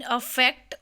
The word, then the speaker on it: affect: English vocabulary words में today we will learn difference between अफेक्ट और इफेक्ट। दोनों की प्रोनाउंसिएशन डिफरेंट है, एक की है अफेक्ट, एक की है इफेक्ट। अफेक्ट और इफेक्ट।